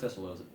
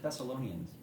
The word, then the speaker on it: Thessalonians: was all caps um first thessal that's not how you pronounce that first Thessalonians 4 veres 13-8 oh